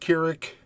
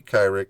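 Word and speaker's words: Kyrik: Kar series and his I believe it's pronounced kirck could be kyri but I think it's Krick series at all it says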